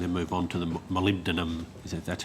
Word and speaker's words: molybdenum: on this and then move on to the molybdenum, that's how you pronounce it, yes.